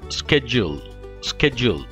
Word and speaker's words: schedule: ഷെഡ്യൂൾ അല്ലെങ്കിൽ സ്കെഡ്യൂൾ, രണ്ട് പ്രൊനൗൺസിയേഷനും തെറ്റാണ്. ഇതിൻ്റെ ശരിയായ ബ്രിട്ടീഷ് പ്രൊനൗൺസിയേഷൻ ഷെഡ്യൂൾ, ഷെഡ്യൂൾ. ശരിയായ അമേരിക്കൻ പ്രൊനൗൺസിയേഷൻ സ്കെഡ്യൂൾ, സ്കെഡ്യൂൾ.